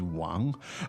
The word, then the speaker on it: Wang: meaning, My surname is Wang. yes, my surname is Wang. What tone is the name Wang? It's second tone.